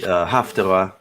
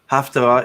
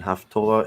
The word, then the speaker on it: Haftarah: I actually brought up the Haftarah. Just so people know, Haftarah is the Sephardic pronunciation. Haftorah is the Ashkenazi pronunciation.